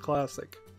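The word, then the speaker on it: Clazziquai: DLC called classic K-PAX c l a z z i q u a I I assume that's supposed to be pronounced classic pack is launching winter 2017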